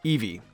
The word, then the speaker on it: Eevee: the root of the entire evolution family itself eevee eevee is heavily based on a fennec fox